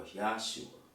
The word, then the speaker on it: Yahshua: Is it Y-E-S-H-U-A, Yeshua, or Yahshua, Y-A-H-S-H-U-A?